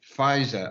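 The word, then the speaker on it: Pfizer: the day i've i got my uh my fisa i think that's how you say it vaccine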